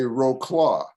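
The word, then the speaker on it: Wrocław: in the caligraph outsider your hometown of rutzlov yes of course the americans say roe claw for some of us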